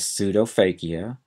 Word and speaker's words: pseudophakia: upper and lower eyelids the next term is pseudophakia PS e d o p h a k